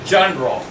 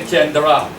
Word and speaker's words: genre: we say action right we say a genre we don't say Kendra Kendra with our genre